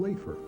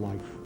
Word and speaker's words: Leif: to say his name the people of his homeland Iceland call him lefer Scandinavians call him life American school children learn his name as Leaf D and they learned